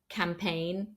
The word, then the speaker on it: campaign: pronounced n gome not then at the end end of a word for example sign campaign design the G is again not pronounced so you can just